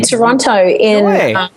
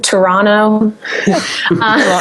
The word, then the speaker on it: Toronto: I'm actually playing one in Toronto or Toronto. No, you're not supposed to pronounce. You're not supposed to pronounce the last T. Isn't that right? I say Toronto.